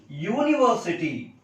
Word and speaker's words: university: University. U. It is consonant sound. That's why a university.